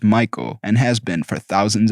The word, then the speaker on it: Michael: and again this girl was adamant it was pronounced Michelle mom bemused said something along the lines of it's literally a name from the Bible pronounced Michael and has been for thousands of years the